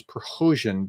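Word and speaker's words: Prigozhin: if this is true somebody told me that progression I should pronounce per hosin because that's more of a Ukrainian pronunciation and so I want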